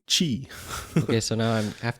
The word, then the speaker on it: Qi: Belkin was Chinese and when I said key she look like me like with big Isis's no no you have to pronounce it Qi so since that day I always say Qi okay so now I